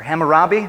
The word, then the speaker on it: Hammurabi: a thing called the code of hammurabi or hammurabi am i pronouncing it right kim very good okay and